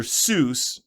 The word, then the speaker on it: Seuss: ah so he he actually liked pronunciation of Seuss better than soy and ran with it for most his life I find it unlike